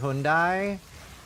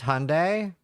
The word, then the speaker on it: Hyundai: a backer yeah to fair I worked with Hundai I don't even remember if I'm pronouncing it correctly but they were like very